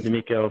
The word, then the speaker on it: D'Amico: D'Amico 15, G-I-O-D-A-M-I-C-O 15, and then Joey is on Twitter at the Riot 326.